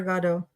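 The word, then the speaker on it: Godot: is unfortunately waiting for agato good day because they're both they're both pronunciations are are exist but I like to say God oh because I like waiting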